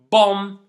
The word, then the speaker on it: bomb: lamb and climb again you can notice that there is a letter that I didn't pronounce in these words and that letter is the letter B so the second rule that we want to focus on today is whenever you have words that end in m and b don't pronounce the b only pronounce the M climb not climb uh